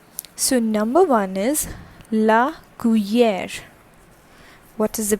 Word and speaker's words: cuillère: Okay, so number one is la cuillère. What is the pronunciation? That is la cuillère, which means spoon in French.